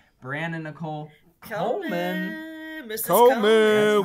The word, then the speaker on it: Nichol: I think she pronounced it Nichol since there's no E on the end. It's literally N-I-C-H-O-L.